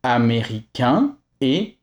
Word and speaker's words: américaine: Quand a i ou I sont suivis par une voyelle, le N se détache pour aller avec la voyelle suivante. Donc A I ou E I font à nouveau leçon e comme dans américain et américaine. Dans tous les cas, pour